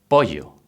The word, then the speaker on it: pollo: But when we put a double L, we pronounce it elle, which is the same sound that the Y. Let's see two examples. Pollo, which means chicken, or playa, which means beach.